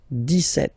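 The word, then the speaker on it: dix-sept: But then for the pronunciation, 17. Okay, so you don't insist on the s.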